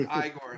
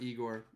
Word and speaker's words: Igor: frankenstein my fault um it's pronounced igor actually not igor um i got i